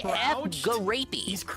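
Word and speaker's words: Gariépy: And on top of that, did you know, right here, Eddie B, that JF Garapey, that's his name. That's actually how you pronounce it.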